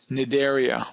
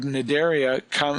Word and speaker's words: Cnidaria: that phylum is phylum Cnidaria. Obviously, the C is silent, but the root that makes up the word Cnidaria means stinging or stingers.